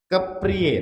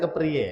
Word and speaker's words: kepriye: Kepriye. Nah, keprij itu bacanya kepriye ya. Ini ejaan zaman zaman dulu ya. Keprij dibacanya kepriye kepriye tegese ngimanake Gusti Allah